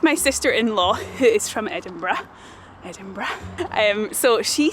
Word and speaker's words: Edinburgh: people and they say Edinburgh, but it's definitely not Edinburgh. Do not say that, absolutely not. And it is not Edinburgh, which is like a rabbit burrow, definitely not that.